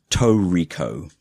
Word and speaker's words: tricot: Next one, we were calling Tricot Do you want to know something? We've done a distrage. Oh, is it Tricot? It is Toriko.